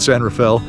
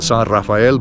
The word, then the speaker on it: San Rafael: We call it San Rafale. Uh, if you're a Spanish explorer, you would call it San Raphael, but uh, nobody around here would.